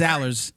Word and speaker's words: Alers: Am I saying it right? Alers? It's Alers. Man, you got it right.